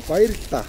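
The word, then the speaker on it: баярлалаа: Bairta.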